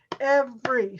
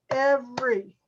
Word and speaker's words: every: they're showing you here so it's every which is two syllables and we count syllables we do it this way every so you clap your hand every it's only two syllables every athlete usually usually